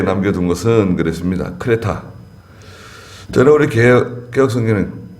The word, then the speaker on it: 크레타: 원래는 크레타인데요. 예. 그 지중해에 있는 크레타 섬이에요.